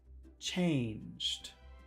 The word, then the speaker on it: change: long sounds two long sounds nothing has really changed changed now there's really only one vowel sound